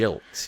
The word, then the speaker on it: Gilks: I'm going to go with almost namesake, Matt Gilks. Gilds. Ah. Yeah. I don't remember him playing even for though it's Rangers. pronounced Jilks, yeah.